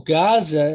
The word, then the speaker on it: Gaza: Well, Gaza is spelled with an Ayin and it has a GH type of sound.